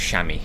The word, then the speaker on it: chamois: Chamois is pronounced chamois. Oh, is it? I guess it's like chassis.